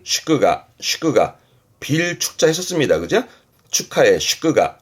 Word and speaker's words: 祝賀: 축하 발음은 슈끄가 슈끄가 음로는 가였습니다.